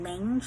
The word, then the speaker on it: Lange: Uh it was a new brand that I've been using, Lange, if I'm pronouncing it right. L a n g e. There is an accent over the L. I think it's French.